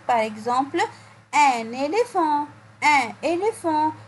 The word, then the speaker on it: éléphant: Par exemple, un éléphant. Un éléphant. On a dit avant cela, la lettre P à côté de la lettre H se prononce F. Donc, dans le mot un éléphant, j'entends le son F.